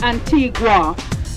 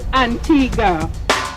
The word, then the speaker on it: Antigua: some say Antigua Antigua is the Spanish pronunciation because of the whole Columbus thing and in Spanish Antiga